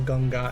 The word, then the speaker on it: Ganga: oh nice nice like in in Hindi or odia we don't even call it the ganga River we literally just call it the ganga everyone just knows everyone